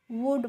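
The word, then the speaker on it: would: तो मैंने आपको बता दिया था एल और डी आएंगे तो वहां पे हमें एल का प्रोनाउंसिएशन नहीं करना है और तो हम इसको वुल्ड नहीं पढ़ेंगे क्या पढ़ेंगे वुड पढ़ेंगे और वुड की हिंदी मीनिंग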